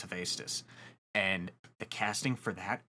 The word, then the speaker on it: Hephaestus: I always say Hephaestus, but I believe it's Hephaestus.